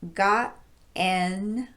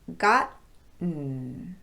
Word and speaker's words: gotten: The vowel sound after the T is not pronounced if we're using a glottal stop there.